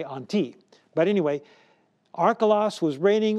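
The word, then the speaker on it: ἀντί: word i'll say it in with an english pronunciation anti now in greek you would say on t but anyway arcolas was reigning over judea on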